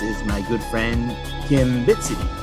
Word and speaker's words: Bitseedy: my good friend Kim bit city is that how you pronounced your last name now bit City yep okay awesome I want